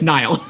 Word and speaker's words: Nihil: Like, are the Nihil the big bad 4? I'm so mad that the audio dramas have gotten me going Nihil. It's Nihil. It's not Nihil. What is this? It's Nihil.